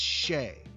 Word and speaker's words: Shai: shy he's embarrassed no no it's Shay Shay I've heard him say his own name on that skims commercial the underwear commercial that the NBA is cramming down our throats he say my name is Shay gilgas Alexander that's his name Shay not Shai Shay he put up